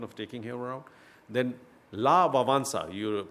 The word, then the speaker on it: Lech Wałęsa: Then Lech Wałęsa, you pronounce his name as that, but he was the famous Polish leader who was the Solidarity leader.